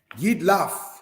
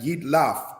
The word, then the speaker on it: Jidlaph: Jidlaph means melting away. Because, brothers and sisters, this letter here, the face or feet, makes a F or a P sound at the end of words.